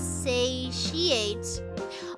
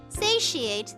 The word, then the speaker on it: satiate: a says s saate is it pronounced as Sate oh really thank you I know English is weird satiate thank you Andrew the